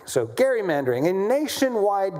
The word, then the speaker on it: gerrymandering: It's is uh the legislator from Massachusetts who uh gave rise to the word gerrymandering, which is how we say it. It's name was Gary. So gerrymandering, a nationwide gerrymandering war is now in